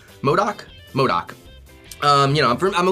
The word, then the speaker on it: MODOK: Oh yeah, M-O-D-O-K, so MODOK. MODOK?